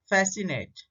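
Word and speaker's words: fascinate: जब एस सी का combination words में होता है तो सी साइलेंट होता है। तो एग्जांपल देखते हैं, सीजर, एसेंट, फैसिनेट और मसल।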